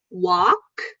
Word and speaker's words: walk: So for walk, you don't need to curl your tongue when you say walk. Actually, you can open your mouth really wide.